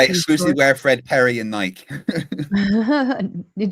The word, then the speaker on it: Nike: It is Nike because the the the god is called Nike, but in in Britain, everyone just says Nike.